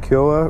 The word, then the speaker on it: Kyowa: And that's how you say it, Kyowa Racing.